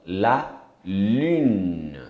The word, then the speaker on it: lune: Lua, la lune. É um N, você não pronuncia o E, mas esse N tem um som do N. E o U é o do francês mesmo. U.